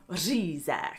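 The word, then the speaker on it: řízek: to buy the carp, many Czechs actually eat reaguje for Christmas dinner, which is essentially schnitzel, but impossible for foreigners to pronounce, which makes it an especially Czech dish. Say it with me. Reaguje.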